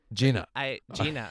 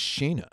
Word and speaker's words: Gina: Gina.